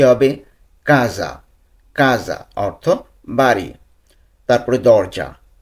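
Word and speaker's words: casa: আর হ্যাঁ, ভিডিওটি না টেনে দেখার অনুরোধ রইল, কারণ উচ্চারণগুলো অনেক ইম্পর্ট্যান্ট, তাই উচ্চারণ সহকারে আমরা এই ভিডিওটি দেখব। তো প্রথমে আমরা দেখব বাড়ি। ইতালিয়ান কী হবে? কাজা।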